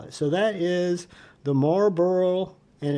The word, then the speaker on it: Marlborough: So that is the Marlborough, and it's not spelled, it's spelled like a burro, like, you know, a burro donkey or a burro that you live in.